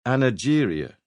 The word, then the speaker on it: angeria: The first respected doctor to give it one back in the 1890s called it angeria with a soft G.